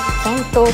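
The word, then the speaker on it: 拳闘: 正解はボクシング、拳闘と読みます。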